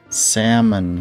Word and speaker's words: salmon: it's a fish although technically you're not supposed to pronounce the L I'm not saying samon that sounds dumb or Salon salmon you mean salmon salmon